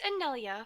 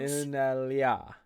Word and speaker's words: Anelia: No, it's Anelia, but I Anelia. understand that sometimes... Inelia.